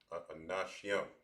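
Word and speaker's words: אנשים: All right, so it'll be pronounced as anashyam.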